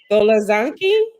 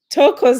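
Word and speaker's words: Thokozani: Golazanki? Did I pronounce it Talk, right? talk, Tokozani. yeah, Tokozani.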